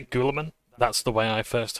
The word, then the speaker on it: Guilliman: Guilliman is one pronunciation. I always say Guilliman.